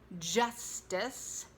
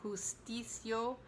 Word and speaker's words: justice: We are fighting for justice, not justice or justicio, but justice. Give a little D to the J and it will sound stronger.